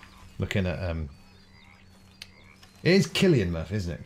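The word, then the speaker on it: Cillian Murphy: an exhausting day looking at um it is Killian Murphy isn't it Killian Murphy's as in how you pronounce it just his giant face on IMAX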